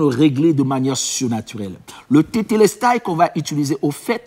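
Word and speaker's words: τετέλεσται: Mais dans l'expression grecque, en grec, parce que le Nouveau Testament a été écrit en grec c'est tétélestai. Je prononce T-E encore L-E-S-T-A-I.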